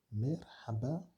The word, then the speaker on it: merhaba: Merhaba, qui signifie bonjour ou salut.